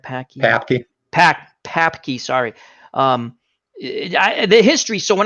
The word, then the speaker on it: Papke: Because you bring up a lot of interesting things when you do like the Stanley Ketchel and the Packy. Did I pronounce his name right? Papke.